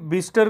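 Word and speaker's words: Bicester: इस गांव का नाम बिस्टर है, किंतु इसका स्पेलिंग बाइसेस्टर जैसा होता है।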